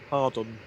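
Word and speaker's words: Hawarden: you say it h a r duu n Hardon Hardon right let's get that on follow was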